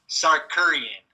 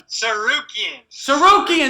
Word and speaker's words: Tsarukyan: I'm taking Arman Sarkurian via unanimous decision. Via what? Unanimous decision. Okay, you seem really confident on the pronunciation.